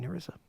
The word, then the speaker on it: Narissa: song, Sweet Melissa, Okay. which rhymes with beat Narissa.